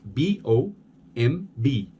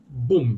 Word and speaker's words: bomb: word bomb its belt B o MB but we don't pronounce that B it's bomb now a lot of foreign speakers will say boom b-boom bit that's a